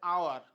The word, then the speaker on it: hour: খেয়াল করে দেখো, উচ্চারণটা হচ্ছে হাউস এইচ দিয়ে, আর উচ্চারণটা হচ্ছে আওয়ার ও দিয়ে শুরু হচ্ছে।